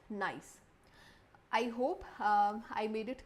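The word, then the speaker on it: gneiss: फिर है nice, this is pronounced as nice.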